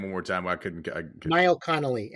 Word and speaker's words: Niall Connolly: Niall Connolly, NIALLCONNOLLY.